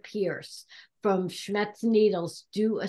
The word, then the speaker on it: Pierce: Because if you've ever had a chance to see Rhonda Pierce from Schmetz Needles do a seminar, she does them at expos and different things, take her class.